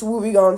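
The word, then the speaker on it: wobbegong: Australian Ghost Shark versus wubby gon shark I've hear people say wubby Gan shark and woong or whatever the heck but it's wubby gon shark and I'm not GNA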